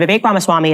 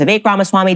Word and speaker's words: Vivek Ramaswamy: I was saying Vivek. His name is Vivek Ramaswamy.